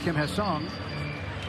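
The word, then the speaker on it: Kim Ha-seong: So his uh his name if you pronounce it the Korean way would be Kim Hassang.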